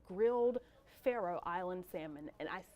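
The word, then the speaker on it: Faroe: the signature dishes at the revivalist called grilled Pharaoh Island salmon and I said it like that because these days I just don't pronounce things correctly but I believe I got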